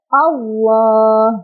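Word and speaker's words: الله: Makanya lafaz Allahnya dibaca tafkhim. Tafkhim itu artinya tebal. Jadi cara bacanya adalah ditebalkan. Allah, bukan Allah, bukan ya. Allah, seperti itu.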